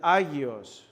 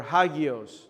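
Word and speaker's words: ἅγιος: and that word is aios aios or hagios depending on how you pronounce the Greek.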